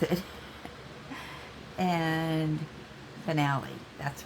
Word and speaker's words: Finale: yeah that's right somebody told me how to pronounce it and finale that's right okay and where am I at